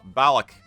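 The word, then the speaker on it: ballock: a bollocks dagger uh balak is how i usually hear it pronounced um for anybody who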